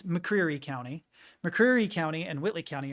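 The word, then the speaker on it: McCreary County: is how it's spelled everyone who lives there calls it mccu but it's mccre County mccre County and Whitley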